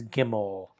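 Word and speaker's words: gimel: The third letter is gimmel.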